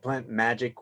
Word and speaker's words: PlantMagyk: Plant Magic, where the magic is MAGYK.